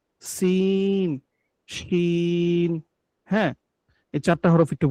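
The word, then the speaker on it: شين: এরপরে দেখুন শিন। জিম যে উচ্চারণ করছে জিহ্বার মধ্যখান তার বরাবর তার সঙ্গে লাগবে, ওই জায়গা থেকে শিন, শিন, শিন, শিন, শিন।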